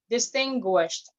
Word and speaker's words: distinguished: example the word distinguished you have to pronounce the final sound distinguished and then please hotel